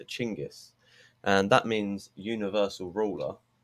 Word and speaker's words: Genghis: And another note, Genghis, which is actually pronounced Chinggis. Did you know that? Genghis, the real pronunciation is Chinggis.